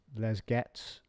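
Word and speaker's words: Les Gets: It's not Leger, it's Les Getz.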